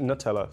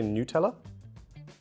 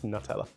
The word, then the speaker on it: Nutella: I pronounce it Nutella. Some people say Nutella. Who says Nutella? I've definitely... Do Americans say Nutella? Do you guys say Nutella? That's horrible. Please don't do that. It's Nutella.